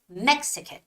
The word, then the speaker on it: Mexican: the stress you know the stress of the word Mexican is is on E the vowel e so it's Mexican Mexican authentic has the second